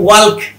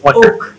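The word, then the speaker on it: walk: কেউ যারা ইংরেজিতে একেবারে দুর্বল তারা বলবে ওয়াল্ক, আর আমরা যারা মোটামুটি পারি তারা বলি কি ওয়াক। এটার আসল উচ্চারণ হচ্ছে ওক, ওক।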